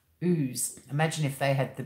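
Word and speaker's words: Ouse: I mean, we've got a town in Tasmania called Ooze. It's spelled O-U-S-E. Ooze.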